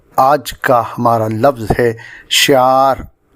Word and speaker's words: شعار: کا ہمارا لفظ ہے شعار، جو درست ہے اسے غلط طور سے شعار بولا جاتا ہے۔ اس کے معنی ہیں